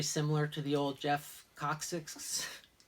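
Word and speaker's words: Kocsis: these look very similar to the old Jeff Cox's. It's spelled K-O-C-S-I-S.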